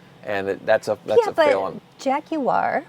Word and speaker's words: Jaguar: Jaguar, which you pronounce with many syllables, did something extreme, and everyone hated it.